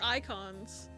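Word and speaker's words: Eikons: I know they're called Icons in 16. But it's spelled E-I-K-O-N.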